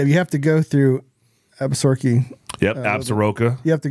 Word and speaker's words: Absaroka: When I was filming Cliff doing the butchering, he didn't say Absaroka. Absaroka. He said, I think that. That's how it's pronounced. All right, it's Absaroka.